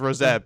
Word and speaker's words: Rosett: Well, it's pronounced Rosett, but still, like I know, but right?